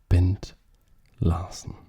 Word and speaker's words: Bent Larsen: countrymen the chess legend bent larsen that's how you say his name just an absolutely amazing